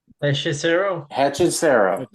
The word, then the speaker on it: Hechicero: Hechicero.